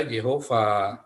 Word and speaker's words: Yehova: ini sudah jelas dibaca Yehova. Mengapa dibaca Yehova? Karena ada Vav di belakang Ho. Maka ini bacanya Y, dan ini akan dibacanya Ho, dan ini Yehova.